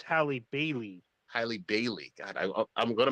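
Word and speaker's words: Halle Bailey: that i think it i think you pronounced it haley barry not halle berry but haley berry oh yeah haley bailey oh it's hallie bailey highly bailey god i'm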